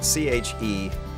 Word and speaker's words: Chequers: It's spelled Chequers, Checkers with a Q.